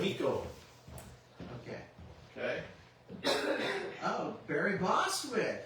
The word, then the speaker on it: Kimiko: and Janet Varney, Greg Baldwin, Michaela Jill Murphy, Kimco Glenn. I'm sorry if we mispronounced these. There, it's corrected. Kimiko.